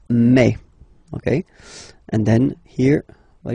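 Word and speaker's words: mai: me me okay so don't pronounce e don't try to pronounce it no it's me me so it's not my it's me okay and then here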